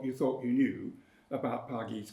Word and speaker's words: Pargeiys: Pargeiys, stressed on the second syllable because it's in rhyme throughout the verb. That word, paradise, is in rhyme all the way through, rhyming with things like sheath and so on.